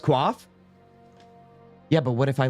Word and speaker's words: coif: Coif is pronounced quaff? Yeah, but what if I like saying coif?